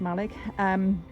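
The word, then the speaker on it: Mallaig: We know that that's pronounced Malig, which is a marina.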